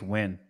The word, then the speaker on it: Nguyen: All right, it says it's pronounced Win.